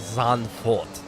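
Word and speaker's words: Zandvoort: pretty sure it's it's it'll be like a sun fort like that's how the dutch would pronounce a v becomes an f it's like uh vote like volkswagen should be folks farther like people people car anyway i digress let's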